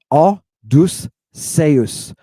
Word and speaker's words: Odysseus: How many syllables? 1, 2, 3. Aw. Aw is your first. Deuce is your second. Seus. Seus. Odysseus.